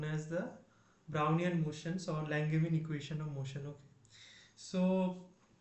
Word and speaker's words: Langevin: Now there is a treatment that is known as the Langevin treatment. Okay, so what Langevin did, or Langeva, whatever you way you can pronounce it, equation.